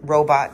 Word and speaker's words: robot: secrets of humanoid robot robot design although i say robot robot because it's a unstressed second syllable and i'm from the midwest and i'm in my 40s okay the secrets of